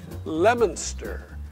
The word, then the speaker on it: Leominster: in Tennessee but over the line in Virginia lemonster Massachusetts it's spelled like it ought to be pronounced Leominster